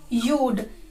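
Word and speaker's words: you'd: यूड। यू वुड या यू हैड का pronunciation होता है यूड, यूड, यूड।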